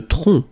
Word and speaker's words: tronc: Le tronc. Le tronc, okay, remember, final C is not pronounced here.